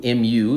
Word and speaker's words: mu: greek symbol mu and that greek symbol mu mu is how you pronounce it mu is the micro stands for